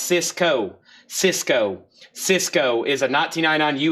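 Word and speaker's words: Sisqó: This is pronounced Cisco.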